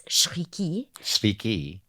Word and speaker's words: Chriqui: baffled by the name because in French it's shriki ch is like sh like champignon so in